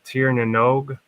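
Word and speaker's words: Tír na nÓg: This place called Tir na Nog, and that's Gaelic for something.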